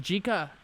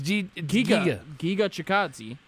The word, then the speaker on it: Giga Chikadze: Gigi. It's Giga Chikadze.